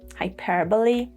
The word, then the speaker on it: hyperbole: Sometimes E at the end of a word is pronounced. For example, hyperbole, epidemic, resume. So you should be a little bit careful.